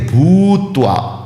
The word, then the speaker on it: भूत्वा: सिद्ध सिद्ध सिद्ध सिद्ध समूह भूत्वा भू की मात्रा दीर्घ बड़ी वाली है इसलिए भूत्वा इस तरह उच्चारण करना है सिद्ध सिद्ध समो भूत्वा